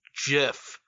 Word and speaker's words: GIF: It's pronounced GIF with a hard G.